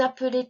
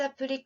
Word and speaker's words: appelez: で、私は青色つけましたけど、活用の時には、to の時には、いつも S か X が出てきます。ちょっと気をつけてね、忘れないように。もちろん発音しません。今回は、vous の質問を練習しましょう。Vous vous appelez comment? Vous vous appelez comment? 何か違うんですか？tu t'appelles と vous appelez. Tu t'appelles, je m'appelle 音は elle, elle. Vous の場合は ele, ele. Je m'appelle, vous vous appelez. Vous vous appelez comment?